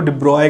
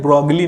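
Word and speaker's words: de Broglie: या Louis डी ब्रॉय, French भाषा में उनको डी ब्रॉय कहते हैं, ब्रॉगली नहीं कहते, बट इंडियन प्रोनाउंसिएशन ब्रॉगली कहते हैं, तो हम भी ब्रॉगली कहते हैं।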